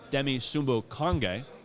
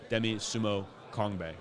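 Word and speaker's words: Demie Sumo-Karngbaye: with him his running back from NC State, Demi Sumbo-Konge. I butchered his name yesterday at another Radio Row segment, so I wanted to make sure we got that right. Demi Sumbo-Konge.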